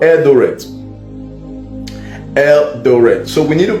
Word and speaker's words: Eldoret: And I'm seeing a place called Eldoret.